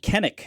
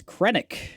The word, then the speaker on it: Krennic: And then just to like Krennic is just on another gross level, you know, like chef's kiss, man. Yeah, that's that's good stuff. Uh yeah. Uh, I put Kennek. It's Krennic.